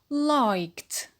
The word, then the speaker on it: liked: When it is in the past, it becomes liked. Liked. How many syllable? Yes, just one syllable. And the ed is pronounced to.